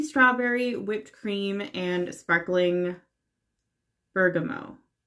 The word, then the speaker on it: Bergamot: and sparkling Bergamo Bergamot I've been told I was pronouncing it wrong and uh because I was pronouncing it with the T at the end and apparently you're not supposed to do that so I believe it's Bergamo regardless that's a citrus